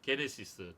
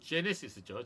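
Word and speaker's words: Genesis: 다 성균이 번역이 된 것입니다 거기에서는 뭐라 그래요 게네시스 똑같습니다 발음이 자 영어의 제목은 북 오브 제네시스죠 영어에서는 주 발음으로 바뀝니다 예 그러면은 우리가 한정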